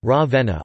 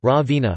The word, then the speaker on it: Ravenna: Ravenna, Italian pronunciation, Ravenna, also locally Ravenna, listen, Romagnol, Ravenna, is the capital city of the province of Ravenna, in the Emilia-Romagna region of northern Italy.